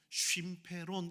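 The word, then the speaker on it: συμφέρον: 여기 있는 유익이란 단어는 뭐냐면 바로 쉼페론 이렇게 발음합니다.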